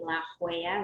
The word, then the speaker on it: La Jolla: part of san diego it's called la jolla it's spelled j-o-l-l-a la hoya that sounds like la